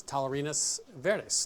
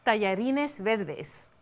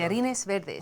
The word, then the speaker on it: tallarines verdes: So today on Milk Street, it's Tallarines Verdes. Now, you are the master of pronunciation. Did I do that right? No. Of course not. That's why I asked. Thank you so much. Tallarines Verdes. Oh, that's so much better.